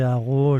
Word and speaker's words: Harreau: Alors, je suis sur LinkedIn, donc Haro. Haro, ça s'écrit H-A-2-R-E-A-U.